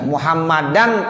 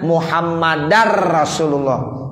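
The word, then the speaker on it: مُحَمَّدًا رَسُولُ: Asyhadu alla ilaha illallah wa asyhadu anna muhammadar rasulullah. Jadi bukan muhammadan, tapi apa? Muhammadar rasulullah.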